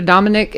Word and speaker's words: Dominik: And so hand the microphone back over there to Dominik, and you've got to put that right on you, brother. Okay. So in introduction, this is Dominique. How do you say your name?